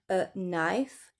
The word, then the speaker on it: knife: Le K N en début de mot, on ne prononce pas du tout le cas, il ne sert à rien. Knife to know, to knock.